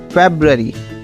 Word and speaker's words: February: ये बच्चों, इन सब में सबसे मुश्किल प्रोनाउंसिएशन शायद फरवरी की होती है, क्योंकि इसमें 2 आर आते हैं और इसकी प्रोनाउंसिएशन में थोड़ा सा ऊपर नीचे हो जाता है, इसलिए इसकी सही प्रोनाउंसिएशन है फरवरी।